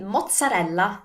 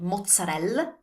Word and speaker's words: mozzarella: So with mozzarella, the most common mistakes are to drop the final E, so saying mozzarella. And now you know why you never do that in Italian. We always pronounce all our vowels, and we take extra care to pronounce the ending vowel correctly. So it's mozzarella.